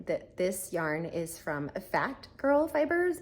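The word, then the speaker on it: Phat Girl Fibers: As I'm getting started, I forgot to mention that this yarn is from Fat Girl Fibers. It's spelled P-H-A-T, Fat Girls Fiber.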